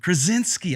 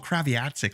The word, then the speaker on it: Krasinski: I can never pronounce his last name. John Krasinski. I want to call him Kraviatsik, like Chantel for some reason.